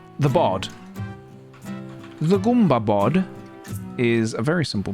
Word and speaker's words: Goomba: But it is Goomba, right? I am pronouncing it correctly. It's not Gumba. It was never Gumba. It can't be Gumba.